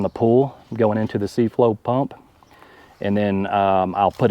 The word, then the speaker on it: C-Flow: C-Flow?